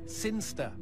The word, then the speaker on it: Sinchester: It's pronounced Sinster. How do you know? My cousin's from Sinster.